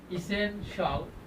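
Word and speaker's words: essential: বলবো সল বলবো সল সল সলশল সল সলশল ইসেনশাল ইসেনশাল এটার উচ্চারণ কি হবে ইসেনশিয়াল না ইসেনশিয়াল ইসেনশাল ইসেনশাল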